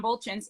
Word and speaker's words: Buultjens: moment i'm going to be talking with john bolton's am i pronouncing your last name correctly oh that's all